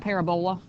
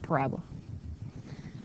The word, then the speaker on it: parabola: Please don't pronounce that parabola. I know it's like how you spell it, parabola, but it's parabola.